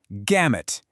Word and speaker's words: gamut: It's a fantastic one, gamut, and you say it like gam-ut.